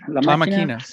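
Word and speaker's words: La Máquina: La Maquina? La Maquina. La Maquina.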